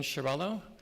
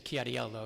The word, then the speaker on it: Chiarello: Right, as we said, my name is Chiarello, but I really like when you say it, Mr. Chiariello, because that's the way it should be pronounced.